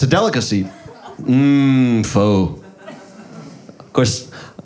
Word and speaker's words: Pho: Pho. Of course, I was told that it's pronounced fa.